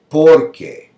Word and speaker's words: porque: The stress is on que, and here it's on por.